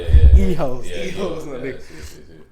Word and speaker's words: hijos: Don't say the H in Spanish. I promise you, they don't know what the fuck you're talking about. Hijos.